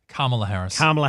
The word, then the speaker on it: Kamala: Kamala Harris. Think hard syllable at the start.